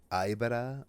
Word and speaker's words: Aibara: How do you pronounce the? You said Aiba, Aibara. Aibara.